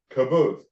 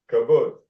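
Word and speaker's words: Qibbutz: And then the last one would be the caboose. Caboose. Yeah, I'll write it out so you'll see how to pronounce it. Caboose. Q-I-B-B-U-T-Z. Caboose. Right? That has a phonetic sound, like nut.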